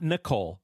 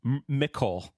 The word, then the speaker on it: Nicole: I want to talk about Nicole Mercurio, not Nicole, Nicole.